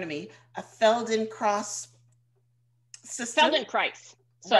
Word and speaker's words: Feldenkrais: Feldenkrais. So, right, yeah, spells rhymes with rice, Feldenkrais.